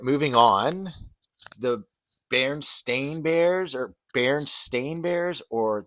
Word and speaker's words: Berenstain: Bearstain, spelled Berestain, or do you think it's Bearstein, Berenstein? I guess it would be like kind of a Jewish pronunciation of it. Uh, I personally remember it as Bearstein, but it is Berenstain Bears.